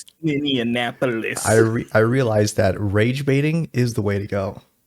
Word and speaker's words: Minneapolis: Minneapolis, James. That's how you pronounce it.